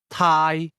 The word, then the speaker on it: 太: First the word to Thai Thai Thai is pronounced with a midle tone.